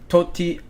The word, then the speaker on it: Tosti: And then the 1 under kind of guys that I'm looking at, Thomas Dietrich, Alejandro Tosti, or Totti, that's how you pronounce it, Alejandro Totti, finished 1 under.